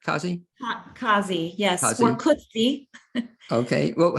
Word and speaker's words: Cozzi: introduce my first guest and she is Lori akazi is that am I pronouncing it correct Causey Causey yes okay well how do you what do you prefer uh Kazi is fine because and she is the executive